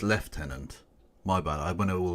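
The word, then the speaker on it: lieutenant: yes uh oh sorry I mispronounced it you not it's left tenant my bad I been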